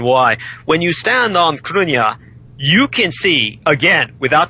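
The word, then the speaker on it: Cruithne: began to fight over was cruna which is Earth's second moon and this is something that most people are totally unaware of and people can look this up it's spelled c r u i t h NE c r UI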